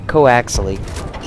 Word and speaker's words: coax: know how to say it's pronounced Co coax imagine like there's a hi in between and I'm going you